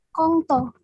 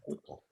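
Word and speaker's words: couteau: Nah, ini cara membacanya karena C dengan O, jadinya O ya. Tapi di sini ada OU-nya. Menjadi U. Di sini ada T, kut. AU itu bacanya U. Jadinya kuto.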